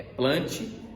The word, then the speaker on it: Plantae: plantas ou implante ter a pronúncia correta é plantes reino plante depois nós